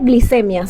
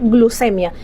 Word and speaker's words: glucemia: No se dice glicemia, se dice glucemia, ya que el prefijo de glucosa es glu, no glin, esto es un anglicismo, no se dice tensión arterial, se dice presión arterial.